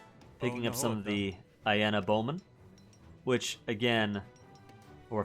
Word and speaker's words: Iena: Picking up some of the Iena bowmen, which again, or if this were Latin pronunciation, be Aina.